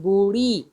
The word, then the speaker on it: बूढ़ी: जैसे ढी नहीं होगा, ढी नहीं बोल रहे हम यहाँ, हम बोल रहे हैं बूढ़ी, ड़ी, ळ, इसके भी ध्वनि उसी